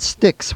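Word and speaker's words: Styx: And that is by a group called Sticks, which is spelled S T YX.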